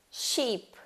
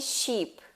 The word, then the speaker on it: sheep: Por exemplo, ship, sheep. Eu trouxe aqui esse sonzinho do I. Se você não pronunciá-lo corretamente, você pode estar pronunciando outra coisa, né? Pode ser mal interpretado por causa disso. Qual que é a diferença entre ship e sheep? Apenas um som, né?